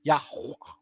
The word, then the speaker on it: Yah: or yah or yah that's technically how it is yah the pronunciation is almost silent but with a strong H praise to Jah yah